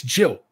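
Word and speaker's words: Gill: lincolshire no it's not Gil it's Jill it's just pronounced weird spelled with a G pronounce with a pronounce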